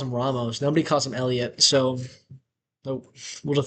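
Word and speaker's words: Heliot: The H in Elliot is silent.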